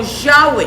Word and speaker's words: Yahweh: siempre, y es Yahweh, Yod-Hei Vav-Hei, el cual nosotros y la gran mayoría de estudiantes de raíces hebreas pronunciamos como Yahweh.